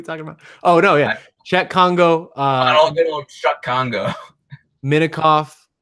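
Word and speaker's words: Cheick Kongo: Chuck Congo? I believe it's Czech Congo.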